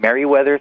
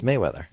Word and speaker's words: Mayweather: kind of calling him Merryweather through this whole podcast I guess it should be I'm saying his name wrong aren't I yeah it's Mayweather yeah I know but